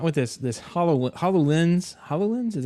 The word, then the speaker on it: HoloLens: they came up with this this hollow hololens hololens is how you say it yeah demo and